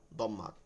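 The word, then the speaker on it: ضمة: দম্মা বা এটার উচ্চারণ অনেকে জম্মা বলে, দতকে জত পড়ে ওর জন্য, কিন্তু উচ্চারণটা হচ্ছে 3টা হচ্ছে ফাতহা কাসরা দম্মা।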